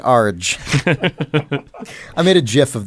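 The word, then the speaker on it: ARG: By an Arj. An Arj. I pronounce it Arj.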